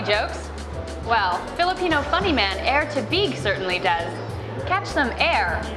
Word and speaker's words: Tabigue: My last name is pronounced Tabigue. It's Filipino. A lot of people are like, Tabigue, oh wow, Filipino name. My mom gets so mad. She's like, it's not Tabigue, it's Tabigue. You have to pronounce it the Filipino way.